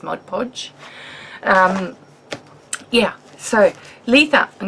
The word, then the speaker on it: Mod Podge: own gesso Mod Podge Mod Podge I said it right for those of you that hate it when I say Modge bodge it's not it's Mod Podge um yeah so Lisa